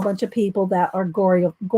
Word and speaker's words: Goreyophiles: Based on newly uncovered correspondence and interviews with Goreyophiles as diverse as, and again, names a whole bunch of people that are Goreyophiles, it's not Goryophiles, Goreyophiles.